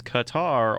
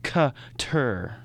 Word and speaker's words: Qatar: say it either way it is generally accepted to say pronounce Qatar as Qatar or Qatar either are oh I got the most authentic version of pronouncing Qatar Qatar is cutter secretary with the right